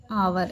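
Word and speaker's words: hour: Walk में एल है, आवर में एच साइलेंट है। ठीक है, आवर ऐसे पढ़ेंगे।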